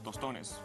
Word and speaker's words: tostones: And these are some tostones. Yeah, which tostones. I've never... Tostones. Did I say it right? Yeah, no, you did. Ah, you did.